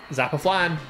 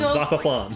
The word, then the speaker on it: Zappa Flan: Zappa Flan. Pronounced like Shaka Khan. Zappa Flan.